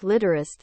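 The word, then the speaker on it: Litterst: his name is Mike litterist they don't pronounce the T at the end like they absolutely should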